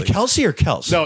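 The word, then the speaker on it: Kelce: we say it correctly Kelsey or Kelsey no it's actually technically he said this it is actually Kels but everyone started saying Kelsey they just didn't care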